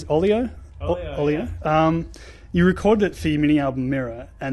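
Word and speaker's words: Olio: One of my favourite tracks is it, how do you pronounce it? Oleo? Oleo.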